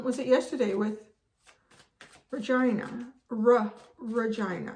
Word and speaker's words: Regina: it yesterday with vagina regina which is the capital of saskatchewan and that's how we pronounce it i know you can